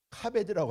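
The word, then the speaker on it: כָּבֵד: 자, 그런데 여기 공경하라라고 하는 말은요, 자, 공경하라라고 하는 말은 카베드라고 합니다. 카베드. 이 카베드라고 하는 말은요, 이 카베드라고 읽죠.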